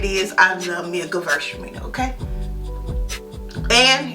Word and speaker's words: Gewürztraminer: I love me a Gewürztraminer, okay? And if you're trying to figure out how to say it, girls are meaner.